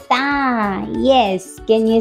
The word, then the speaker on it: ت: The sound of Ta is T, just like in the English word toy. But in English we pronounce it like T, and in Arabic we say it Ta. Ta. In English Ta, and in Arabic Ta. This is the difference.